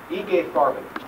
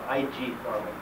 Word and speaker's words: IG Farben: Then there was a company called IG Farben, or IG Farben, as we pronounce the letters in English.